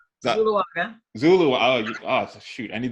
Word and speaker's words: Zuluaga: So the co-founders, Tracey how do I pronounce it? Zuluaga. Zuluaga.